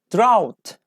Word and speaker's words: drought: to pronounce them correctly drought drought can you pronounce drought no I didn't pronounce G and H drought ah ooh and